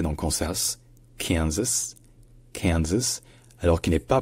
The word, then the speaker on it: Kansas: la première c'est que dans Kansas en fait la l'accentonique est sur le K donc c'est Kas alors que dans arc l'accentonique